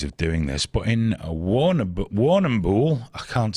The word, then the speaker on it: Warrnambool: Well, apparently at Brower College, which is in the town of, Warrnambool? I can't pronounce that, there's too many letters. Why is there 2 R's in it? Warrnambool.